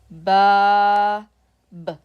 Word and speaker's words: باب: Ba, alif, ba, b. Bab. So when we pronounce it, bab.